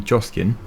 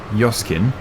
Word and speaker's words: Joskin: if it's on the joskin or your skin is i've seen a few comments now and she's saying that it's pronounced yoskin but i'm probably going